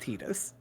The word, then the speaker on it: Tidus: way cooler i believe it's pronounced titus which is just a damn